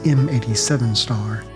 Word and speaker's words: M87*: And a black hole is given an asterisk after the name of their location but pronounced “star” instead of asterisk. In this case, M87*.